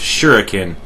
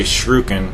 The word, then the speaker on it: shuriken: save it so just keep your windmill shrooking shuriken sorry i always mispronounce that it it it's pronounced shuriken but i've been so conditioned over the years to say shruken so we have a couple of armored vehicles